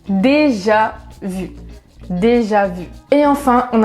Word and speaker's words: déjà vu: En anglais, vous dites déjà vu ou bien déjà vu. Je suis désolée parce que c'est trop compliqué pour moi d'imiter des accents. Je suis trop nulle. Mais bon, en français, on dit déjà vu.